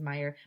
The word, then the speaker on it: Meyer: Meier it will be easy to remember name my name because Meyer rhymes with fire that's funny said mr. Platz oh there's nothing funny about fire said mrs. Meyer but when I visit